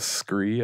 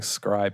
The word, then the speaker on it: scry: troll people ever since that one guy pronounced it as scree at the pre-release. And he kept saying it and I kept saying scry back.